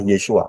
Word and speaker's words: Yeshua: ada ya jadi pintu satu yang benar adalah yesua Kalau saudara tidak masuk melalui yesua berarti Saudara